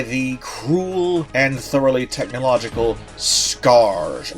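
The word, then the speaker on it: Skaarj: cruel and thoroughly technological Skarrge race. I think that's how it's pronounced, s k a a r j, which has invaded the planet and is pillaging everything it can get its hands on.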